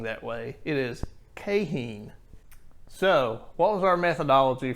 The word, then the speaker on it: Keihin: you out there they're going how did you pronounce that carburetor it's cahen that is the correct pronunciation i will link to a video in the video description which has the company saying that way it is cahen so what was our methodology for testing we